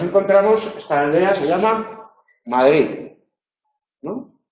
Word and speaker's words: Madrid: esta aldea se llama Madrid, ¿no? Pues la D del final está en posición implosiva, final de sílaba.